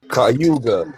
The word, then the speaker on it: Cayuga: Cayuga.